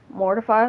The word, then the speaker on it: Mortefi: Or Mortefi. It kind of depends on where you put the syllables, but sometimes I say Mortefi, sometimes I say Mortefi. It's just, whatever. Mortify, that works too.